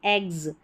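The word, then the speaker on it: eggs: जैसे यहाँ पर देखें, यहाँ पर इन स्पेलिंग्स में देख सकते हैं, ये है एग्स, इसको एक्स नहीं पढ़ते, एग्स, ज पढ़ रहे हैं एस को। ये जी है एस से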